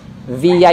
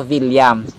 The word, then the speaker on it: Villa: So ang double L mga sombreros sa Spanish ay pinopronounce nila as Y. So tulad sa akin, no, apelyido ko Villa. Villa yun sa kanila. Pero pag sa atin, no, sa Pilipino, Villa.